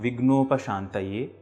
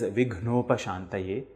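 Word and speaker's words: विघ्नोपशान्तये: It is not vignOpashAntayE, it is vighnOpashAntayE, with a forceful expulsion of air. gna and ghna are two different sounds in Sanskrit languge.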